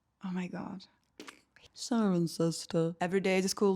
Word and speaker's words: Cirencester: Siren. Yeah, just like a siren. Sister. Oh my god, Siren Sister. Siren sister. I thought it was Sirenchester. Oh my god. Siren Sister.